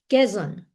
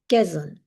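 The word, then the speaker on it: Quezon: Quzon Quzon. So it's it's read uh how it it's it's written Quzon Quzon city.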